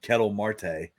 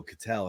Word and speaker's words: Ketel Marte: calling him Kettle Marte, and I'm like, then I heard him the other night. They were like, "Oh, Cattell," and I was like, "Okay, that's not how you say it."